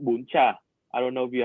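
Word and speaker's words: bún chả: No, how do you spell that? So it's BUN BUN space CHA. CHA. And it's bun cha? Yeah, bún cha.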